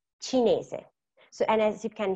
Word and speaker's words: cinese: In Italian, la lettera C can have a sweet sound or a hard sound, suono dolce o suono duro. So, suono dolce sounds like a C, and it's produced when we have la C followed by a E or C and E. For example, C and E is C. Cinese.